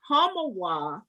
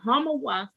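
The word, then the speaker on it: Homowo: accra in ghana west africa and the word homowar which is spelled h h-o-m-o-w-o means literal literally means to hoot at hunger and the reason it's named the hamawa festival is because many many years ago hundreds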